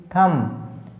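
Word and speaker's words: thumb: मतलब जिस भी स्पेलिंग में आपको ये मिले कि एम और बी इकट्ठे आ गए, ठीक है, वहाँ पर बी साइलेंट रहता है। THVMB थम, यहाँ भी एम बी है तो बी को साइलेंट रखना है, ठीक है।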